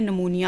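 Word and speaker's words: pneumonia: एक होता है नमूनिया, इसका पी साइलेंट होता है, ठीक है, एन से पढ़ेंगे हम इसे, नमूनिया।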